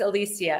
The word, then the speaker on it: Elysia: illustrious amazing background am I your name is Alisia am I saying it right yes you sure